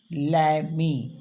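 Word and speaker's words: l'amie: तो उसको हम बोलेंगे ला प्लस एमी और जो आ है यानी कि एल ए का ए है ला का ए है इस ए को हमने हटा के एस्टो प लगा देना है और इसको पढ़ते हैं लैमी ये है गर्लफ्रेंड के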